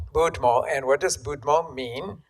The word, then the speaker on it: Budmo: you mentioned the name of your book so pronounce it for us so that everybody can hear this the name is budmo budmo and what does budmo mean that means cheers